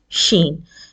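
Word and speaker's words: شين: now we come to Sheen now Sheen is actually a letter when you pronounce this letter you hear the sound spreading as you uh shush a baby when you pronounce this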